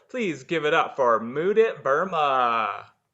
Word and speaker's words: Mudit: underground comedy festival please give it up for mood it burma how are you hello everybody youtube universe what is poppin my name is moodit i'll tell you a little bit tell you